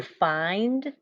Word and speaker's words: find: to write this out write the sound eind like find like did you find your keys this is one of those closed syllable exception words find excellent so i've got my long eye here even though it's followed by a consonant it should be short but that's why it's an exception excellent nice job okay